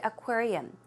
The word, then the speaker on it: aquarium: uh pronounce the word aquarium it's not a quater you its aquarium aquarium one more time aquarium okay let's check out good